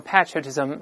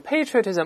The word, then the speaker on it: patriotism: 这个爱国主义呢，英国人读成 patriotism，美国读成 patriotism，我们讲了不可数名词。